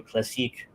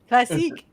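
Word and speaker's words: Radio Classique: as well as radio classic. I butchered both words. That's okay. Classique. That's French.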